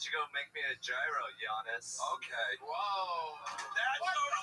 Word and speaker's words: gyro: Why don't you go make me a gyro, Giannis? Okay. Whoa. That's over the line. That's racist. That's racist. I'm half Turkish. I did my DNA. I'm a rape baby. So. And it's pronounced Yiro.